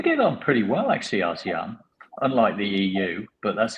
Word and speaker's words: ASEAN: ASEAN. ASEAN, yeah.